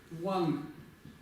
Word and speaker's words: དབང: В случае, если у нас идет предписная, да, вот это ба в середине будет читаться как ва. И это слово будет звучать как ван. Ван. То есть вот это г не произносится, такая назализация. Ван.